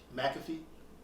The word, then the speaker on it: McAfee: um john say his last name for me mcafee oh yeah magazine all right i said it